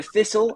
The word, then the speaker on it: thistle: Donc, le thistle, c'est le TH, et c'est ce son-là qu'on a beaucoup de mal à prononcer pour les Français.